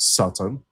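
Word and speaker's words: שָׂטָן: It's pronounced Satan in Hebrew, which became anglicized to become Satan.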